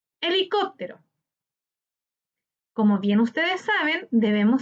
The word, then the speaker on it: Helicóptero: Helicóptero, helicóptero. En este ejemplo vemos que la palabra helicóptero se tilda en cop, correspondiente a la antepenúltima sílaba.